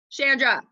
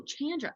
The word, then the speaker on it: Chandra: that ain't your name Shandra am I saying it correctly Shantz Shandra chander like Jackie Chan Oh Chandra that's cool name can